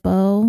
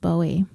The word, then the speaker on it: Bowie: and one last thing I pronounced Blaze's sister's name wrong I think I said Bo when it's actually pronounced Bowie and speaking of mispronunciations